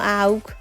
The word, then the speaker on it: আখ: এখান থেকে নিতে আসছি এটা শুদ্ধ উচ্চারণ তো আগ কিন্তু আমরা বলতাম আউ তো কে আউ শব্দটা পরিচিত